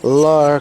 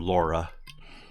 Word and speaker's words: Lara: Thank you for pronouncing her name correctly, by the way. I thought everybody knew that. There's a lot of people that call her Laura.